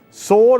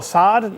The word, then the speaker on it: Sord: It's a sword, I think that's how you say it. Sword or SARD, no, it would be Sword Creative Computer M5, and it's quite the rare old computer.